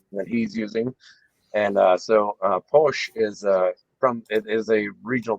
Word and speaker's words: Pox: POX. Yeah, Posh. Sigilocero. It's not Pox.